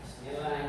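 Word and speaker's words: بسم الله: Nah, bismillah itu saya sering dengar bacanya panjang. Bismillah. Enggak boleh ya pendek. Jangan bis ya. Bis Arab itu tidak ada kata o dan e ada an i u. Jadi kita enggak boleh baca bisan bis masuk kelas ya kacau bisacanya pendek.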